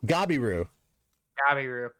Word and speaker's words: Gabiru: Gabiru. It's spelled... All right, here's the thing. We're going with the anime pronunciation of things. They actually call him Gabiru. Yeah. So if you see Gabil, say Gabiru.